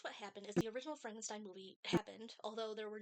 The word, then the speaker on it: Frankenstein: It's pronounced Frankenstein because he should because he stigma of his grandfather.